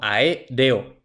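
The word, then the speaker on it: aéreo: en la clase anterior Es que la mayoría de los hispanohablantes la mayoría de los nativos yo incluido eh No pronunciamos a r o sino a e reo y pronunciamos reo como si fuera un diptongo pero la teoría dice que e o es un iato por tanto son sílabas separadas por tanto e es la tercera sílaba empezando desde el final Por tanto la palabra es esdrújula y por tanto lleva tilde la siguiente es café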